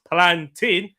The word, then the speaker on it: plantain: There are two types of people in this world: people who correctly pronounce plantain as plantain, and full-fledged deranged psychopaths who pronounce it as tain, as in maintain.